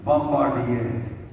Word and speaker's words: Bombardier: The French pronunciation is Bombardier.